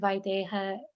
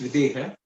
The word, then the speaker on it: Videha: Like, what does the word Vaideha mean? Okay, so it's actually it's pronounced Videha.